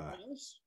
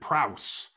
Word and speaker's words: Prowse: David Prowse. Yeah, David Prowse.